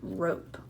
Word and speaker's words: rope: And remember, these have the silent E at the end, so we're going to write the silent E. We see him, but we don't hear him.